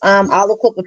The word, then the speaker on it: Aliquippa: And you pronounce this right. It's Aliquippa, Pennsylvania.